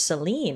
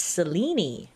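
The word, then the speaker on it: Selene: My apologies, goddess. I have been mispronouncing your name. I thought it was Seline. It's Seleni.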